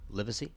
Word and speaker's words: Livesey: And then, of course, we've got Livesey. Livesey? Am I saying it right? There you go. Perfect.